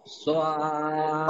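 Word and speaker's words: ص: আবারও বলছি খেয়াল করেন জিহ্বার আগা সামনের নিচের দুই দাঁতের পেটও আগার সাথে লাগিয়ে উচ্চারণ হবে সদ সদ আশা করি এবার কিছুটা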